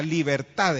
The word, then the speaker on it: libertad: La libertad, exactamente, la libertad. Es una trisílaba, ¿verdad? Libertad. Según la regla gramatical es una palabra aguda, ¿verdad?